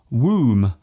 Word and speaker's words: womb: For example, the B in comb, womb and bomb. There is only one letter change between these words, yet they are pronounced differently. Other words containing silent letters